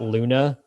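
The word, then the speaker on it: Leune: when you graduate there's this guy named scott luna um and it's spelled funny it's l-e-u-n-e who has something called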